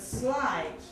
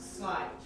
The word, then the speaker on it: sleight: Now notice I said sleight and not slight. Yes, they're two very different words with the same pronunciation.